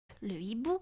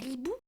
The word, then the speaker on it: le hibou: le haricot le handicap le hibou le hibou on dit pas l'hbou non le hibou on dit aussi le